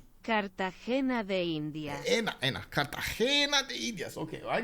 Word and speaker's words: Cartagena de Indias: So you see, but you gotta put a long E in there, you know, like it's a Cartagena de Indias. Cartagena de Indias.